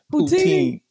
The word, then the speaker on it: poutine: I had pronounced and they were just laughing like, "How you pronounce it?" Poutine.